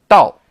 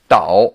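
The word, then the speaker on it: 倒: from here note that here tao should be pronounced fourth tone dal not in the third tone tao as we saw in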